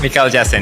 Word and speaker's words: Mikael Jasin: Pronounced that correctly? Yeah. Mikael Jasin? Mikael Jasin, yes.